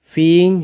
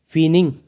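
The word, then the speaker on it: feigning: That की Tenali was फीइंग his illness, फीइंग मतलब इसको बोलते हैं फीनिंग। अब इसमें जो जी होता है साइलेंट होता है, फीनिंग, फीनिंग हिज इलनेस,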